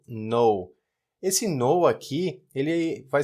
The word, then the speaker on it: null: Se escreve N-U-L-L, ou seja, nulo, traduzindo para o português, mas o americano pronuncia isso aqui parecido com a palavra não, chama-se no.